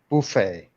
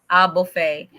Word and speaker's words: buffet: Buffet. Buffet. Yeah, Buffet. others say But buffet. No, it's no, silent T. it's buffet.